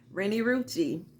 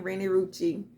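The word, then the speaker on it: Renni Rucci: Rennie Rucci. That's how you say her name, Rennie Rucci.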